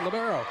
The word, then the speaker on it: libero: I call it libero because somebody told me little burrito years ago. Think of that. And I was told, for the next 10 years, nope, it's libero.